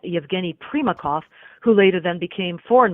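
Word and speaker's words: Primakov: Kremlin including people like one-time KGB director Yevgeniy prima chenko and later he became I'm sorry prema cough I'm pronouncing that wrong Yevgeniy prema cough who later then became foreign minister for Russia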